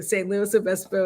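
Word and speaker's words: San Luis Obispo: say that St Louis St louiso thank you St Louis Obispo it is I will never never forget that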